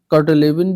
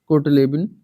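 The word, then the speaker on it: Kurt Lewin: तो कर्टलेविन या कोटलेविन, ठीक है। हिंदी में लिखा होगा तो कट लिखा होगा, और इंग्लिश में कुल्ट लेविन, ठीक है।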